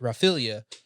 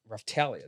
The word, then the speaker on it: Raphtalia: Raphtalia, sorry, Yeah. I never got to actually hear anyone ever pronounce that. So I've been calling it Raphaelia for years because I never watched the anime. So regardless, Raphtalia, that's really cool.